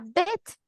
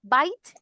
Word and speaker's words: bit: He is a bit taller than you. Porque si nosotros esta pronunciación decimos bite, es otra palabra, mordida. En este caso es bit, un poquito, un poquito.